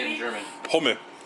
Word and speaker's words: Hummel: Hummel. Holman?